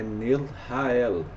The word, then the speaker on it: Nelchael: Ele se escreve Neusa Chael, tá? Com o Ch. Só que quando nós formos pronunciar esse nome é Nelrahael Ra, né?